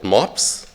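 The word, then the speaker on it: MoBPS: breeding program simulator and it's easy to pronounce by Germans because this top breed the pack dog the German word is mobs but without a b so it was for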